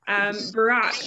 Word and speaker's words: Burak: Burak, I want to come to you next, and keep me honest on pronunciation. Hi, it's perfect. It's like Obama. It's really similar to the pronunciation.